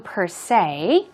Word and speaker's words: per se: What about per se? Per se. Stress goes on. Say. Per se.